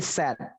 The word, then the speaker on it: said: Said nothing for Bukan his said, mom. tapi sad. Bacanya sad, S-E-D, sad. Sama Said. seperti sedih tapi pendek, sad.